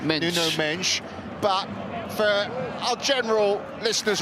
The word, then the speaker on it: Mendes: for our Portuguese listeners we do know it's pronounced noo mench but for our general